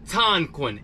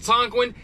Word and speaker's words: Tonquin: go get those dividends this app is called Tonkin it's spelled t-o-n-q-u-i-n again it's called Tonkin and it's spelled t-o-n-q-u-i-n and with this app